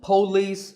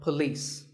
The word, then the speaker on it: police: is police this isn't police or polis it's paw and the police with the stress on lease so police the next word is